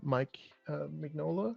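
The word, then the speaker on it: Mignola: bit more I was reading lots of uh Mike mola I guess oh yeah that's how it's pronounced so I wanted to try like a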